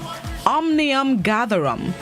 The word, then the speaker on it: omnium gatherum: or a hyphenated word it is omnium gatherham omnium gatherum omniam hyphen gatherum it's spelled o m n i u m hyphen